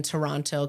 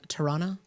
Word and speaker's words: Toronto: I don't think they like it when you pronounce the second T. Toronto?